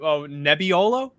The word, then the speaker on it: Nebbiolo: Oh, Nebbiolo.